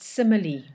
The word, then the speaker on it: simile: is a simile remember we pronounce it simile not smile now assembly is when